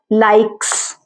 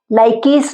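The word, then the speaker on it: likes: ठीक है, इसी तरह से ई देख लीजिए, लाइक्स, इसमें ई साइलेंट है, इसमें ई जो है इसकी कोई ध्वनि अपनी नहीं है। लाइकीस नहीं है, लाइक्स है।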